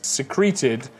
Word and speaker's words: secreted: The participle you wanted to use is secreted from the verb to secret, stressed on the first syllable. Secreted, different from the secrete, stressed on its blah blah blah, both written the same, hence the confusion.